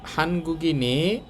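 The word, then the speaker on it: 한국인의: শিক্সা শিক্সা মানে খাবার এখানে দেখেন এই উইটা দিয়ে র বুঝাচ্ছে র বা এর বুঝালে তখন উই এটার উচ্চারণ হবে এ তো হানগুগি নে মানে কোরিয়ানদের শিক্সা শিক্সা মানে খাবার হানগুগি নে নিউনটু উপরে চলে যাবে আর উইটা এ হবে হানগুগিনে কোরিয়ানদের খাবার তো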